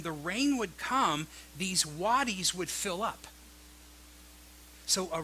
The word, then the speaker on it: wadis: But in Israel itself, they had something called wadis. It's spelled W-A-D-I-S.